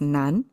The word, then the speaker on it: 南: This if you know Chinese a little bit, I mean south pronounced as nan.